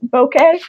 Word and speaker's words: bokeh: I'm working on a page now with, like, some gorgeous bokeh. I don't know how to pronounce that. B-O-K-E-H. I think that's how I pronounce it, bokeh.